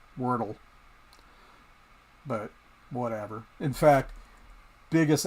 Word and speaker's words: Wordle: It's just like in my videos, I'm constantly calling wordly, because I can't remember that it's Wordle.